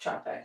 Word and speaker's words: Capek: Pronounced um Capek is c a p e k, pronounced Capek.